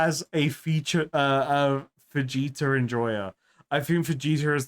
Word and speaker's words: Vegeta: But I'm saying Vegeta, not Fajita.